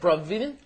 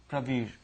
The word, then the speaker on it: Pravir: My name is Pravir and I'm from Bangladesh. How do you say that? Bravir? Pravir. Yeah.